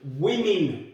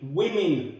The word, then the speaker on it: women: of them women and yes i am pronouncing that correctly women women one woman two women right i know that doesn't sound logical but it's true now this is one